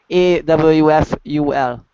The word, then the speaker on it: awful: punctual pronation F full a WF u l a a w oh awful F yeah F aul awful awful aul okay say it like this all as in the word ball bounce awful right okay